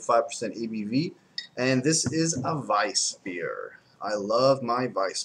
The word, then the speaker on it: Weisse: it was a a vice beer that was spelled w e i SS e supposed to be pronounced Vice like adal Vice I